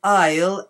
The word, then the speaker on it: Isle: pronounce the S but there are a couple of words in English where the S isn't pronounced and so Island is